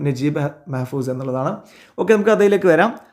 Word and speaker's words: Naguib Mahfouz: നന്നാവുക നജീബ് എന്നായിരിക്കും കാരണം അത് ആ ഒരു ഭാഷയുമായിട്ട് അടുത്ത് കിടക്കുന്ന ഉച്ചാരണം അതാണ് അവരുടെ പിന്നെ ലാംഗ്വേജ് ആയിട്ട് അടുത്തു കിടക്കുന്ന ഉച്ചാരണം നജീബ് മെഹ്ഫൂസ് എന്നുള്ളതാണ് ഓക്കേ നമുക്ക് അതിലേക്ക്